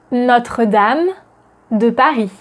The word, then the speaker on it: Notre-Dame: Notice that notre is not notre, but notre. The O is open and not closed.